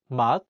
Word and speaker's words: 맛: In the word 맛, meaning taste, the 시옷 is in the 받침 position, so it's pronounced as 트.